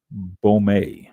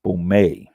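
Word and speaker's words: Baumé: let me howse this pronounce Bome okay b a u m with a little thing about the E Bome this is a measurement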